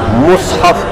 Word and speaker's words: مصحف: جمع ہے مصحف کی، مصحف کا لفظ جو ہے یہ فصیح ہے، اور مصحف بھی اس میں جائز، میم پر کسرہ بولے مصحف تو بھی جائز تلفظ ہے، وارد ہے اس کا، لیکن فصیح لفظ کون سا ہے؟